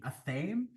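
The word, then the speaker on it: athame: at aame a t h a m e aame anyways this is what you like cast spells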